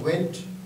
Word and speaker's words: want: ওয়েন্ট, আর ওইটা হচ্ছে ওয়ান্ট মানে ওয়ের সাথে আ যুক্ত হয়েছে।